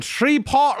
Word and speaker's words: Shreveport: When Danny was born in Shreport, Louisiana, not 65.